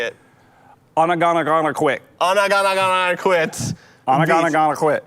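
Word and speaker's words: Ogunquit: Onagana quit. Quit. Onagana quit. It's so nervous. It makes me nervous. O-G-O-N, quit. Beach. No, you can't sound it out. Okay, Onagana quit. I'm gonna quit. Onagana quit.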